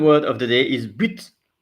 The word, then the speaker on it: but: So the second word of the day is but. So in French, this is pronounced but, but.